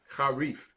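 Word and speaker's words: חריף: Charif. Harif. What Fifth line? Isn't that an F sound at the end? That's correct. Harif.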